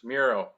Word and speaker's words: Mierau: Mierau, did I say it right? You're close. Mierau, Mierau.